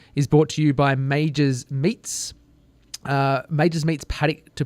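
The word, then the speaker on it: Maugers: go to majors meets or and this is majors you don't know how it's pronounced ma u GE RS comm dot au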